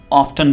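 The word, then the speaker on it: often: इसको आप ऑफन भी प्रोनाउंस कर सकते हैं या ऑफ्टन भी बोल सकते हैं, दोनों ठीक हैं.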